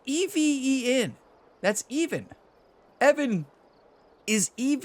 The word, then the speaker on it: Even: even was I thought the designer's name was Evan forever so in all these course showcase videos I'm like oh Evan this one's for you it turns out it's even yeah Ryan it's spelled EV en that's even Evan is EV in this is